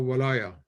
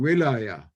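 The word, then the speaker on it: ولاية: So you have this reality of Sufism being heir to the dimension of walaya, which I don't want even to translate. Can be pronounced both as walaya and wilaya, different meanings, but both meanings are there really together in this initiatic spiritual function.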